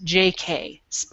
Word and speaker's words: J.K.: And Moo's favorite is a fluffy-haired, self-absorbed, narcissistic, two-faced, goofy party boy named J.K. Pronounced J.